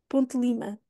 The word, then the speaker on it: Ponte de Lima: de Lima Eu quase não pronuncio o ali o d quase uma ponte para Lima Ponte Lima este aqui eu uso